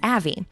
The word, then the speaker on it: Avi: that Larry is that everybody mispronounces my name and I know yeah I know that Avi AI if you're a Jewish gentleman is a common name but my name is Avy and so in order